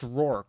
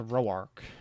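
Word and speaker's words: Roark: the gym leader Roach, who is actually it's pronounced Ror, not Roorarch.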